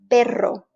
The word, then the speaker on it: perro: distinguishable by one letter if you have one r you're saying pero but if you've got two you are saying a different word perro because those two letters